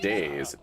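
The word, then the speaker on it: DayZ: I moved on to days building I have to check that out. I don't even know what that is, man. Uh so it's spelled that way. D A Y Z.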